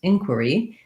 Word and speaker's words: inquiry: we talked about and inquiry has a different stress pattern so first syllable stress inquiry and then instead of an ear like in query inquiry er it just has the er sound so it sounds like in quer e inquiry um we made